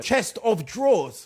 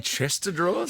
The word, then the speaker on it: chest of drawers: Chest of drawers. Chest or drawers! Saying Chester drawers?